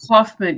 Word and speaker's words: Kaufman: How do we pronounce it? I know. Oh, Kaufman.